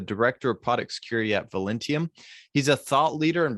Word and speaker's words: Velentium: Am I pronouncing Velentium correctly?